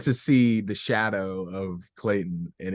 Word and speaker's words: Clayton: Tony Goldwyn as Tarzan, Minnie Driver as Jane, Brian Blessed as Clayton, which I always get his name wrong.